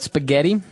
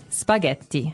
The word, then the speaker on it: spaghetti: And what about spaghetti? Spaghetti. Spaghetti. Oh, you pronounce the double T as well.